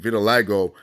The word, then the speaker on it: vitiligo: That's how you say it, vitiligo, from that shit.